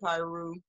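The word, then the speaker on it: Piru: county on wednesday evening p-i-r-u i'm pronouncing it pyro that's some that's some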